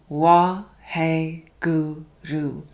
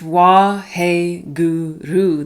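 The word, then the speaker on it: Waheguru: is W he guu so four syllables wah he Guru wah he Guru and this Mantra is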